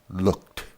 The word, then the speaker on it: looked: Try to remember that the letters ED sound more like the T in Tom. T, t, t. Look, looked.